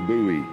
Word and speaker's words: Booe: and I believe it is pronounced Bowie I'm tired of